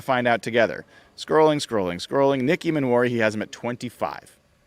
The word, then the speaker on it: Emmanwori: And by the way, I've been mispronouncing his name and misspelling his name at times, so forgive me for that. I think I had I think I had an extra A in there. It's Emmanwori. So I've tried to correct that where I can.